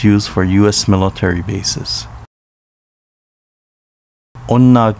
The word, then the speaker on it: Onna: for u.s military bases onna village pronounced unna in uchinaguchi is home to beautiful